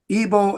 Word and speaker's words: Ebal: Shechem, and there's a mountain on each side, Ebal and Gerizim. That's how you pronounce those 2.